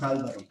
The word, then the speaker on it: Alvaro: apologize for butchering it that's okay Al Alvaro alaro it's called is pronounced Alvaro fantastic Alvaro we're gonna